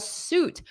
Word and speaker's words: suit: Fabrice, I'm wearing a suit. Repeat after me. A lot of students confuse this pronunciation. Suit. Oot. Don't look at the spelling. Listen to me. Close your eyes. Oot. Suit. Excellent job, everyone.